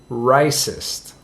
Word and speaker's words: racist: a racist r-a-c-i-s-t and in australia the pronunciation for racist is not like mine i'm from canada but an australian might pronounce the word racist closer to rice's oh he's a racist and my accent is terrible but anyway i'm sure my australian friends are going to kill me for that anyhow so an australian person might pronounce the word racist as something close to rice's now why would that